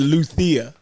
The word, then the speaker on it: Luzia: It definitely had a Z in it, but they pronounced it Luthia.